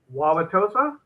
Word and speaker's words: Wauwatosa: Wauwatosa?